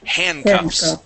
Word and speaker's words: handcuffs: Okay, and let's practice the S at the end of handcuffs.